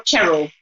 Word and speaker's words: Cheryl: Are you Cheryl or Cheryl? Cheryl. Like almost like with an S rather than the C.